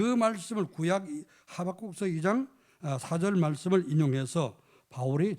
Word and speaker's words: 하박국: 하박국 선지자, 구약의 하박국 선지자는 여러분 발음 잘못하면 호박국이 되는데요. 어제 그제 호박국을 먹었는데 이제 호박국이 아니라 하박국입니다.